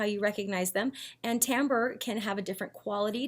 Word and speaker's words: timbre: the day, which is timbre. I know, it looks like timber, but it's pronounced timbre.